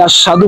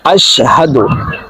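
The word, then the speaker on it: أشهد: আশহাদু, আমরা অনেকে আশহাদু বলে থাকি, হবে হচ্ছে আশহাদু।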